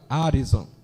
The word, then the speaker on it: Harrison: Então, quero lhe cumprimentar a delegada, e eu quero dizer aqui a pronúncia correta do nome dela, mano. Doutora Harrison. É assim, tá?